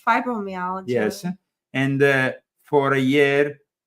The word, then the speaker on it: fibromyalgia: It's fibromyalgia.